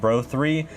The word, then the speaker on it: BR03: a quick side note the models of the tower and bookshelf speakers can actually be pronounced as bro 9 and bro 3 which is how i'll